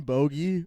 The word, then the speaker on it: Bogi: Uh, so it's uh in standup I'm going by Boie or.